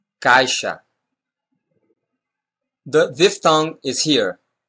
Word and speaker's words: caixa: This sound also happens after a diphthong, as in caixa, caixa.